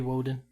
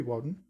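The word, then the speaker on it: Wodan: mean can i be woeden you could probably be i mean sure you could be waden why not yeah because it's just the germanic pronunciation for odin right so i mean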